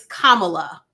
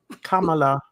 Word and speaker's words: Kamala: you say her name it's Kamala Kam it's like yeah Kama with a la Kamala Kamala okay so they're say